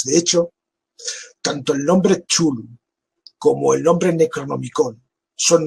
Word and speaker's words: Cthulhu: De hecho, tanto el nombre Chulu como el nombre Necronomicón son nombres que oyó